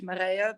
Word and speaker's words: Marije: course um yeah so my name is Marie or in Dutch Maria but no one can pronounce that so yeah I'm uh